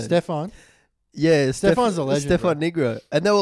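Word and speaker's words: Negru: and the guy's like ah it's Stefan negro yeah like negro yeah what it was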